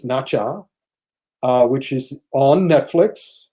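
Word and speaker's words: Nezha: of them is nacho n-e-z-h-a which i pronounces nacha uh which is on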